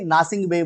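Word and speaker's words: Gnassingbé: ठीक है, तो आप याद रखेंगे नासिंगबे बोल सकते हैं, जी यहाँ पर साइलेंट हो सकता है, तो यहाँ पर फोरे नासिंगबे क्या है, टोगो के प्रेसिडेंट है।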